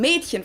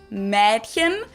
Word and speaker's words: Mädchen: Like in Mädchen, for example, girl. It's spelled with an umlaut A, but most people pronounce it more as if it was spelled with an E. So it's spelled Mädchen, but we usually pronounce it Mädchen.